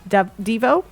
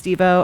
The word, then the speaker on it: Devo: Devo. Is it Devo? Okay, because I always want to say Devo, but I guess it's Devo. Okay, so I said it right.